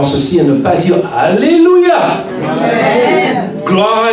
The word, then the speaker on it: Alléluia: Alors, c'est pas comme ça que ça se prononce. Le mot en anglais a un H. Et le H doit être prononcé. On doit prendre de l'air, remplir nos poumons d'air, utiliser notre diaphragme pour supporter l'air et dire Alléluia.